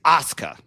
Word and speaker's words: Asuka: Is it Asuka or It's Asuka. And I spent easily like three years pronouncing it wrong.